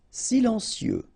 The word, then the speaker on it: silencieux: Silencieux. Final X not pronounced, okay? This part here will be pronounced like cieux, okay? Then you get silencieux.